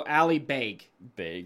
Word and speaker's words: Ali Beg: I'd also love to see it's pronounced like bagel. So Ali Beg. Ali Beg.